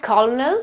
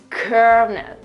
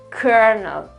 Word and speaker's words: colonel: It's pronounced colonel, colonel. Just bear with me, because I know it's completely different from the real spelling. So first of all, okay, we got the accent on the first syllable, that's okay.